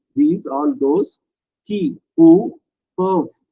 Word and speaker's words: peuvent: Pourna for, tout ce qui peuvent, tout all, sakina these, all those, qui who perv, pervல இருக்கிற இஎன்டியை நம்ம உச்சரிக்க கூடாது.